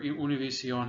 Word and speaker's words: Univision: I think he is in the management of Univision, or Univision as it's pronounced properly.